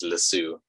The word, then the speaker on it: Lasso: By the way, you say it wrong. It's Lasso.